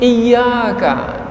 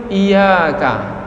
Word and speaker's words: iyyaka: ta'ala dan di mesti disebut Iyakah tasdid Ini mesti dibaca jangan sampai tidak dibaca karena ada yang membacanya kurang baik sehingga menyebut Iya kan nah bodoh semestinya Iya karena aku tuh kalau dibaca iyyaka na'budu tak ada tasydidnya Maka makna ia itu